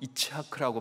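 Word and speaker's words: יצחק: 이삭이란 이 이름은 웃다라는 히브리어 동사 차크에서 유래된 히브리어로 읽어보면 이차크라고 발음한다고 하는데요.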